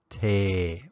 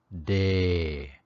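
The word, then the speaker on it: တယ်: add to these verbs it's pronounced teh or day the first verb for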